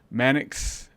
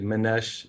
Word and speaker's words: Manex: Today, my guest is Manex. Is that how you say it? Yeah, it's actually Manesh.